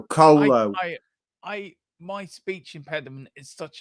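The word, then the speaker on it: Kolo: I cannot pronounce his last name, so that's Colo. Think of it like a cola, but with instead of an A, it's an O. So Colo.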